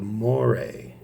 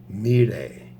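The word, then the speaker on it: Moirai: greek it's actually pronounced melee the o and the i are uh create one sound it's not o e it's e just e so it's mean a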